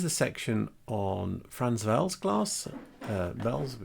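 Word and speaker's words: Welz: Vels is, you have to pronounce it as a V because it's Germanic. Well, it's Czech W, but it's like German.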